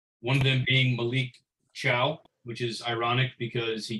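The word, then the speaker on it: Thiaw: of them being malik ciao which is ironic because he came to the italian league his last name is spelled t-h-i-a-w but it's pronounced like hello goodbye in italian ciao so i can't wait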